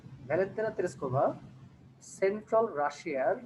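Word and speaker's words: Russia: টুতায়েভস্কি district in central রাশিয়া। এই শব্দটাকে আমরা একটু মিসপ্রোনাউন্স করে থাকি, এটা ইউজুয়ালি আমরা বলে থাকি যে রাশিয়া। রাশিয়া না বলে আমরা বলবো রাশা, রাইট, ঠিক আছে।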